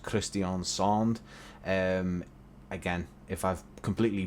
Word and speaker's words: Kristiansand: pronouncing that name wrong in english we would just purely say christian sand and but i believe it's pronounced christian sonde um again if i've